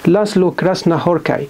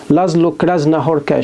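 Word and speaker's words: László Krasznahorkai: هوركاي، واسمه هو مجري، فالاس زد لما بيجوا مع بعض بينطق سين باللغة العربية سين، لأن في ناس انطقوا لازلو كراسنا هوركاي. شفت انترفيو في أمريكا ليه البن اللي هو جمعية القلم الدولية، لقيت الانترفيور يعني سأله أو نطق اسمه لازلو، لازنو لازلو كراسنا هوركي، لا هو لازلو كراسنا هوركي بالسين، هنا سين وهنا سين، الاس زد في اللغة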